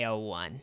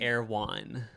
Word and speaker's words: Erewhon: community is going to al-1 it's actually air one oh that's how you say it that's how people say in la at least according to